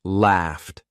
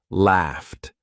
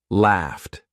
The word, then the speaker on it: laughed: I'm not saying laughed. I'm not saying laughed. I'm saying laughed. Laughed.